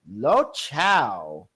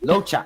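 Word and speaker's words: Luocha: But please welcome one and only Lo Chao. Lo Chao. I think. Lo Chao. Oh, sorry, Lo Cha. I don't know why I say Lo Chao. Like Chow.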